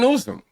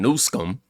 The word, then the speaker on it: Newsom: keep voting for him Gavin Newsome I'm sorry I said his name wrong y'all know I'm horrible with names I meant to say Gavin nsum will be spending a